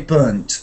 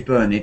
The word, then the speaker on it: burnt: I say burnt as an irregular kind of verb. So in England we have irregular past for those verbs where the pronunciation ending is t, like burnt, and we want to be sure that it's always t. Burnt, burned, burn. We don't say burned, we say burnt.